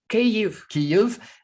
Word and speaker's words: Kyiv: She's got family members both in the capital city, which is correctly pronounced Kyiv, and in Western Ukraine, she's got her parents.